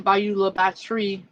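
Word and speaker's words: Bayou La Batre: And it's actually Bayou La Batterie. La Batterie. It's actually French. But, like, if you're not from there, you're not going to pronounce it correctly.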